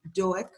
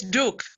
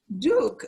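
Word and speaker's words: Doek: how you pronounce it it's duke it's afrikaans so i don't expect you to get it right well i'm embarrassed duke okay so uh and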